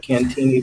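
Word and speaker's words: Cantigny: division museum out at cantini park and you all know that that's the different way that the french pronounce it but that's the way it's been pronounced here for decades so people who are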